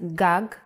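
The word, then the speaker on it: גג: If you were to see this word written, you might want to read it as gag. There is no vowel sound. In Hebrew, the vowels are often not written. You would know that this word is pronounced gag because it has been taught to you before.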